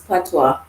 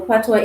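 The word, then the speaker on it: Patois: to know what is patwa which is spelled i don't know it is a jamaican language but yet it has a french pronunciation french spelling french pronunciation because it is a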